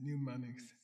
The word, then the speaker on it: mnemonics: which is Và rồi mnemonics. Okay? phần thứ hai thì sao? M-E-M-O-N-I-C-S. M-N. It's a strange word in English. You don't pronounce the M. It's M-N. M-O-N-I-C-S. Yeah, mnemonics.